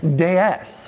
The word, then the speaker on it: DS: In French, DS is pronounced as déesse, which is also the French word for goddess.